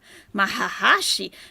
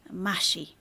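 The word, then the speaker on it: محشي: Now, maybe it's said like that in the Gulf. It could be. In Egypt, we call it mashi. That's it. We don't have extra syllables in there, but Egyptian Arabic is its own dialect, so she might be right.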